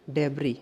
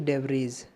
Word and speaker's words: debris: डेबरी की spelling होती है DEBRIS, लेकिन इसका प्रोनाउंसिएट करेंगे डेबरी, ना कि डेबरीज। डेबरी करेंगे।